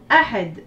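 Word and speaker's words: أحد: Donc, dans Ahad, on entend 3 lettres. A, Ha, D. Ce sont des sons courts.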